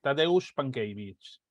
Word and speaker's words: Tadeusz Pankiewicz: de este nombre que no me atrevo a pronunciar, Tadeusz Pankiewicz, que es... Tadeusz Pankiewicz.